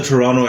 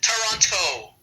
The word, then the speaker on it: Toronto: you said it right because they pronounced the second t over here that's how i always know when somebody's not like from around here toronto you know so they'll